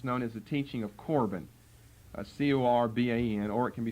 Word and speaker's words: Corban: K may be better because it's a hard C sound, which is a K sound, but most of the time you see it spelled with a C.